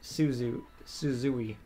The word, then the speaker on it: Suzui: Takamaki's BFFs with a starter, a girl named Suzui. I believe that's how it's pronounced. It's like Susie. Yeah, it's literally like Susie, but it's pronounced in a Japanese style. It's like Suzui.